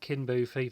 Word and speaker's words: Kinboofi: I bought this, so yeah, Kinboofi, that's the correct pronunciation.